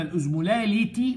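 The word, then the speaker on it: osmolality: الازمولاريتي بير لتر، يبقى الار مع الار، ازمولاريتي بير لتر، ودي المهمه. انما الازمولاليتي ما فيهاش ار، دي بير كي جي، عشان ما تلخبطش مين بير لتر ومين بير كي جي.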